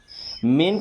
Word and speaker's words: मेन: हमने पढ़ा था ब्रेन, माउंटेन और मेन। मेन का मतलब होता है मुख्य, इसे मैन नहीं पढ़ना है, क्या पढ़ते हैं? मेन।